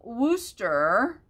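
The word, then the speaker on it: Worcester: number 16 is a pair of royal wooster uh cruets and wooster is spelled like w-o-r-c-e-s-t-e-r nothing like it sounds so if you spell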